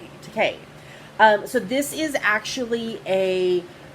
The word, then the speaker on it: Takei: Yes, I learned that it rhymes with okay. Takei.